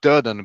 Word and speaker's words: Doan: pronounce your name uh you pronounce it Doan but you can say Doan because that's what everybody else do Doan so like Doan Doan